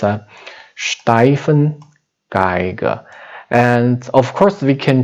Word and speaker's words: Stefan Geiger: name steifan geiger so this name actually is the german name and pronunciation is a little different from english it's a steifen geiger and of course we